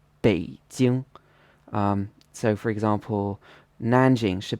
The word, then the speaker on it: 北京: in a flat tone, but in Mandarin it should be a third tone plus a first tone, 北京.